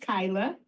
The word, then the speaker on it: Kayla: is Kyla it's it's pronounced Kyla but spelled Kayla um I am so